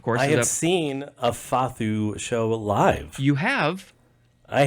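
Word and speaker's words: fado: a d o so it looks like it's pronounced fad or fedo uh but it's fathu FAU uh it is a noun from 1890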